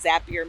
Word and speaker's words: Zapier: could never you know um we'd say is it zapier or zapier yeah and a couple years ago i saw they put the tagline zapier makes you happier yeah thank you yeah